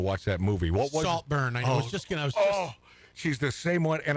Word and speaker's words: Saltburn: Saltburn rhymes with heartburn.